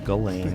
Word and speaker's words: Ghislaine: I think you say Ghislaine. Yes, that's right. What language is that? They would say Ghislaine and French, spell it like that.